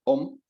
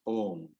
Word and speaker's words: Om: And the correct time unit for Om is Pluta. 3 matras we call it. And so Om is not Om or Om, it's Om.